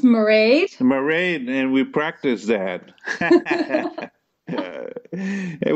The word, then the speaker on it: Mairead: beautiful and wonderfully talented Irish classical crossover soprano marade Healey so in this episode of artists in